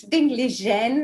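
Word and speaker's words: Ding Liren: pieces against ding Len whose pronunciation please forgive me if I get it wrong it's ding Len as we have learned from raja's dreams he kept correcting us many times yesk like Legend you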